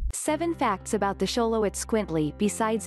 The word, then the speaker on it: xoloitzcuintli: squint Lee the Aztec word for dog it's pronounced show low eats qu ee and t li - even if you're familiar with the breed